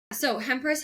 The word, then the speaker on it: Hempress: It's spelled how it sounds, but sometimes that can be a challenge for people. So, yeah, basically Empress with an H in front of it.